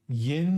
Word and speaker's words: yinz: uh what's the context Yin is how you say y'all in Pittsburgh y'all where's what's the